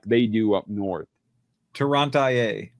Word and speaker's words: Toronto: Toronto. It's always IIA. Good old California. Toia, Michigan. IA. Will you pronounce it Toronto? Like the movie Tron and then you add N O on the end of it.